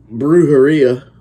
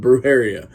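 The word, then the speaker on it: Brujeria: a new album uh breuh Haria or Brew brara maybe is how the correct pronunciation but nobody calls him that everybody I know calls them bruh Haria so bruh Haria estos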